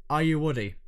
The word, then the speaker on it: Ayoade: He pronounces it Ayoade.